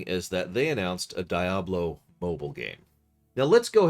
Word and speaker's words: Diablo: a game called uh diablo most often referred to as d hablo but screw it i'm